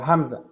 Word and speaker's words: Hamza: how do you say your first name uh Hamza what Hamza so let me ask you this